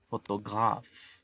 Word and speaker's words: photographe: La pronunciación es photograph. La PH, al igual que en inglés, se pronuncia como F y la E al final es muda.